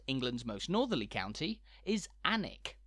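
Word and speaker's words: Alnwick: most Northerly county is anik spelled with a silent l and a silent W for good measure you might know anik as the home of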